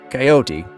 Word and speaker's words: coyote: the word in English one is to keep the e at the end silent and the other involves pronouncing the E which gives the word three syllables in the US the